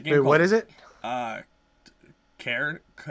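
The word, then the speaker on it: Cairn: what is it uh care care but it's spelled c a i r n it's something to do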